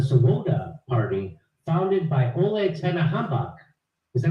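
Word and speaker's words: Oleg Tyahnybok: The C-14s was started as a youth wing of the Swoboda party, founded by Oleg Tenahambak. Is that how do you say his name, Max? Tianbach.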